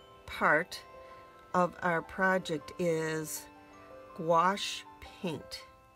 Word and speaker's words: gouache: of our project is wash paint doesn't sound like it's spelt it's geo you a